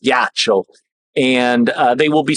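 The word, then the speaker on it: ghiaccio: ghi cciio but it's it's spelled yeah it's pronounced gacho and uh they will be surprised but they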